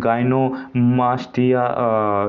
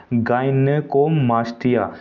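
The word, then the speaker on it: gynecomastia: अब इस पर स्वास्थ्य के प्रभाव के मुहासों की समस्या हो जाती है, बाल झड़ने लगते हैं, गाइनोमास्टिया, इसे सॉरी मैंने सही से प्रोनाउंस नहीं किया, गाइनेकोमास्टिया।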